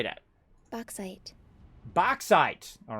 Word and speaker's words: bauxite: u x e how do you say that bauxite bauxite all right ooh she even got a sexy voice wanna hear that again a lot boxite bauxite all right i'm excited about you saying bauxite all right bauxite and we need petroleum coke